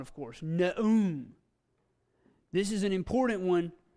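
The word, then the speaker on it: Nahum: Aleph is silent, of course. Na'um. This is an important one. It means prophecy. Or revelation. Being named after an Old Testament prophet, I like this one. Na'um.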